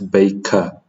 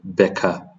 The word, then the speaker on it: baker: So, in this word, we apply that principle when pronouncing the word the the letter a in the word baker. It's baker. Uh and also this would be maker uh rather than becca or mecca.